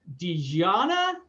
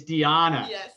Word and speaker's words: Dijana: on here and with dejianna lugali the j is silent isn't it it's diana all right i was close so again i'm on here with diana i'm gonna inch i'm